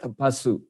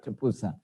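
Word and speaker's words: Tapussa: okay, Tapusa and Panlika, in Sri Lanka, of course, they pronounce it Tapasu, but here we pronounce Tapusa.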